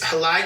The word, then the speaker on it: Helai: read out hel's positionality so her name is halai how am I pronouncing that correct and it's halai okay gender female pronouns she her